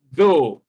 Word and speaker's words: though: What you have in though, most second language users of English, they pronounce this though as if it had the sound D.